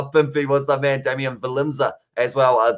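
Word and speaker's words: Willemse: was the man damian valenza as well the w is pronounced uh like the english v uh philip uh finn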